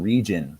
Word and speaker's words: region: um oregon oregano oregon region region's a good one there's your soft g why is it soft it's got a i after it it's french in origin um and then again